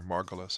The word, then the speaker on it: Margulis: It's written by Lynn Margulis, or Margulis as she pronounces it.